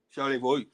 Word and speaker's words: Charlevoix: Charlevoix. You really don't pronounce the X on that.